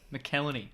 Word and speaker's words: McElhenney: obviously before reynolds and um how do you pronounce his name mckellarney mckelleny that's it um before they took over it